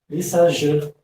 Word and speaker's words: Lissajous: Lissajous, né? É francês, né? Não sei falar muito bem francês, mas aqui parece com o Diju, né? Do Labela Diju, né? Se pronuncia do mesmo jeito, é Lissajous, né?